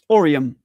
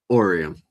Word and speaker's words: Oreium: And you told me it's pronounced it's pronounced Orium. Orium.